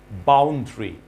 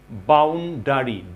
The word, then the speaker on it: boundary: Boundary, DARY, ডারি, it should be boundary, DRY, অর্থাৎ A is silent.